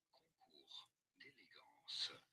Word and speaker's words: concours d'élégance: In English, this is normally said as concours d'élégance. In French, for reference, it is normally pronounced as concours d'élégance. Concours d'élégance. But it's fine in English is to say it as concours, the S is silent here, concours d'élégance, concours d'élégance.